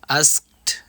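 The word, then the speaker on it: asked: Communication করব, সেই ক্ষেত্রে কে এর উচ্চারণটা হিডেন হবে, অর্থাৎ বাদ যাবে। আস্কড মে, আস্কড অর্থাৎ কে এর উচ্চারণ হবে না, আস্কড মি অর্থাৎ আমাকে জিজ্ঞেস করা হয়েছিল।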